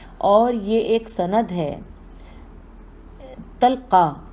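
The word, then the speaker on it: طلقاء: یہ ایک سند ہے۔ تلقا تو میں آپ کو ہجے کر کے بتاتی ہوں، توئے لام قاف الف اور بعد میں حمزہ، تلقا کہہ کر معافی دی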